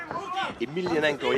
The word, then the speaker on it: Emelianenko: Emelianenko, yeah, that's the way you pronounce it.